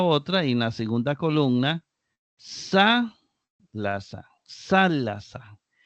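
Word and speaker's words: θάλασσα: Sa, la sa. Sa, la sa. Sa, la, sa. Y aquí viene esta acentuada en la antepenúltima sílaba.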